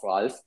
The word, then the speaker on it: Ralf: And even his first name is written not with a PH, as normally all Ralfs in the world are, but with an F, which is the German version of Ralf. So, but I think the pronunciation is nearly the same. So you can just say Ralf and you will know whom